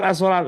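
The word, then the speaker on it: الصلوة: Lafal as-sholat lah ini alif yang tertulis dengan wawu.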